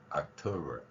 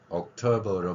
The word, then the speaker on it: October: 그냥 10월은 그냥 October 혹은 October로 발음하는 경우도 있습니다. 그러니까 오와 아의 발음인데 정확하게 우리말 오에 해당하는 발음이나 아에 해당하는 발음이라고 하기는 어렵지만 이 소리를 저도 몇 번을 고민을 해봤었는데 입모양을 오로 하고 소리는 아로 내면 돼요.